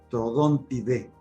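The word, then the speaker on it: Troodontidae: Y aquí vamos a decir que la terminación AE se pronuncia E, es aviale, dromeosauride, trodontide, pero es importante de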